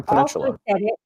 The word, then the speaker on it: Peninsula: that um yeah but the problem is there's no h there's no h yeah